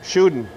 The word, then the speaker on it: Tschudin: TS is silent. Tschudin.